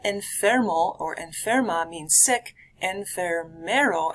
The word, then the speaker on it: enfermero: Enfermero, add an extra syllable in there, refers to a nurse. Add an extra ER in the middle of that one.